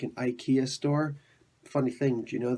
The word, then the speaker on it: IKEA: to be like an IKEA store funny things you know that the Swedish companies actually supposed to be pronounced it ikea ikea ikea yeah really weird fun